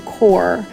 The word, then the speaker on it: coir: We chose to use Coco Core, which is spelled COIR, and what that is just biodegradable shredded coconut shells.